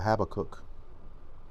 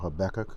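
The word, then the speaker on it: Habakkuk: This is the book of uh Habacook or Habc depending on how you say it.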